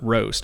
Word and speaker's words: Rōst: i went ahead and googled the word roast r-o-a-s-t and when when you google the definition of a word um it writes it out phonetically underneath so you know how to pronounce a word yeah yeah and when it wrote it out phonetically it spelled it r r o s t with a what's called a macron above the o okay and um and